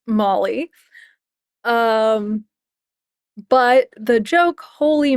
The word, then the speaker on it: moly: And for those of you who don't know, it's actually pronounced Molly. Um, but the joke holy mol holy moly is based on the